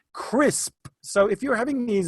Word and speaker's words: Krisp: noisy, you can use an app called Crisp. It's spelled KRISP, and it helps mute